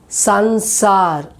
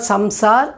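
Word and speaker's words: संसार: Sansar. It's not samsar. It is sansar. Sansar.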